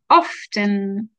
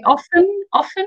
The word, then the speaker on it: often: And then often. We don't really have to pronounce the T so much, but some people say often or often. It's up to you which way you use it.